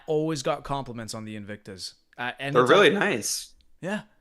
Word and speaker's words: Invicta: Is that how you say it? Invictica? Invicta, yeah, those were my first watches I started buying back in college.